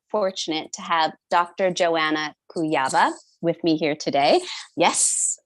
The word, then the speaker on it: Kujawa: Joanna Kujawa with me here today. Yes, I pronounced your last name correctly.